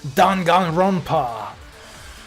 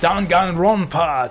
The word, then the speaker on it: Danganronpa: written in the book oh i've been mispronouncing it this whole time don gong rompa all right let's do don gung rompa trivia what almost tragic event what i've only